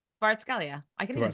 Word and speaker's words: Kvaratskhelia: No, you have to say his name properly. Kvaratskhelia.